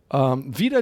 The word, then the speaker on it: wider: And this wieder isn't like wieder again, but actually against. So wieder die Liebe ist kein Kraut gewachsen. So is that the same word used in multiple different ways? It's spelled differently. It's W-I-D-E-R, and wieder again is W-I-E. Okay. Slight difference.